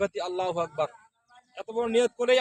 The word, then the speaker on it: আল্লাহ: আমরা এখানে আল্লাহ লামের উপর একটা খারা জবর আছে। লামটা বারিক হবে না। পুর হবে। পুর হলে কি হবে? লাম অক্ষরটা মোটা হবে।